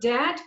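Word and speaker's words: debt: one admission of that the word dad please do not pronounce letter b so that prisoner recognition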